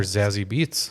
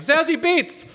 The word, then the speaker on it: Zazie Beetz: I'll be like, "Zazzy Beats." And she'll be like, "What the Did you say sassy beats? You mean Zaz Bates?